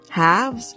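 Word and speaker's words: halves: half is better haves haves is pronounced as house it has a silent l do not pronounce the l a person's better half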